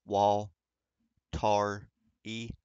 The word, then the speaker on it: Waltari: for those of you who are new to watari It's pronounced wall tar e um there's something Below Zero featuring the legendary